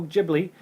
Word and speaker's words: Ghibli: Co-founder of the Studio Ghibli.